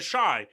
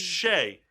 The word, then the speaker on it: Shai: It's Shay or Shy. You call them Shy and Deanne. Shy. It's Shay. I've always heard on TV Shy. That's what ESPN says. That's not true. Kyle, have you ever heard it Shy? It's always been Shay.